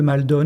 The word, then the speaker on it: Maldon: Il s'appelle La bataille de Maldon, je vais prononcer à la française.